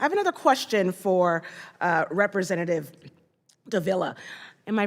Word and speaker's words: Davila: I have another question for Representative Davila. Am I pronouncing your name correctly? Yes, you have it, just Okay. like vanilla.